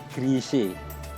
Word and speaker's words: Gresik: keempat Pulau Jawa Gresik itu oleh orang Belanda disebut grise itu dari kata girise orang orang sehingga pengucapannya menjadi grise namun Pelabuhan Gresik merupakan